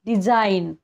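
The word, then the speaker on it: design: चा उच्चार होतोय तसेच डिझाईन डिझाईन पण तुम्ही बघा तिथे जी एन आहे पण आपण जी चा उच्चार नाही करत आहे रिझाईन इथे सुद्धा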